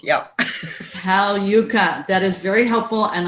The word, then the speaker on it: Pagliuca: last name for me yucca yucca right Hal yucca G is silent yep Hal yucca that is very helpful